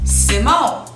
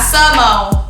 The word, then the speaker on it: Symone: sub mo it's sid mo like sit down syllable anytime you see xy symphony it's not symphony it's symphony s y m symphony simone not sumo now what's up simmer but let's get into